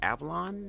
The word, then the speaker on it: Avallone: I believe it's called Avallone. That's how his last name is pronounced.